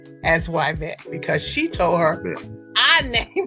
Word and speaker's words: Yvette: It is Y vet. And it's really interesting because one of my teachers said that I was mispronouncing my name. Yeah. That it should be pronounced Yvette.